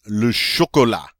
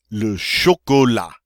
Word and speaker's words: chocolat: here's a favorite one Lucia Cola Lucia Cola notice that T is not pronounced on the end and you've guessed it